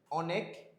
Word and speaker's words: অনেক: আচ্ছা এই অনেক আর অন্য যখন তুমি উচ্চারণ করতে তখন তুমি কিভাবে করতেছো? যে অনেক নাকি অনেক। আমার উচ্চারণটা ভালোমতো বুঝো অনেক বলতেছো নাকি অনেক বলতেছো অনেক বলতেছো তুমি অনেক বলতেছো না তাহলে অর উচ্চারণটা এখানে কিসের মত হচ্ছে অ এর মতই হচ্ছে উচ্চারণটা এখানে কিসের